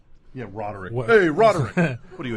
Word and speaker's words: Roderick: liver how are you well say my name rodick yeah rodick hey rodick what are you a gym teacher